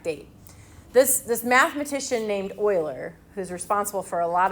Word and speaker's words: Euler: don't think it's that important this mathematician named euler and yes it's spelled e-u-l-e-r but it's pronounced euler showed that f sub